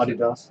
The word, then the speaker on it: Adidas: How do you pronounce Adidas. it? Adidas. Huh? That's a German pronunciation.